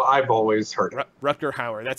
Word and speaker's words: Rutger Hauer: Rutger Hauer is how I've always heard it. Rutger Hauer.